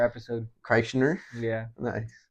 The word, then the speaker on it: Kreischer: Kreischer episode. Kreischer? Yeah. Nice. How do you say his name? Bert Kreischer.